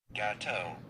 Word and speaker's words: Gâteau: Untuk pronunciation yang betul, boleh dengar pronunciation Google telah saya sediakan di sini. Gâteau.